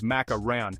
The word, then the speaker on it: macaron: The pronunciation macaron versus macaroon. English speakers typically pronounce macaron as macaran, where the last syllable rhymes with the word on.